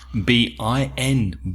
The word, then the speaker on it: been: Yeah, and the pronunciation of been when it's a past participle is slightly different, isn't it? It's more B-I-N, bin.